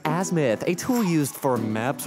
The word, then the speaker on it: azimuth: what they call the azu as apparently it's pronounced azimuth a tool used for maps or something but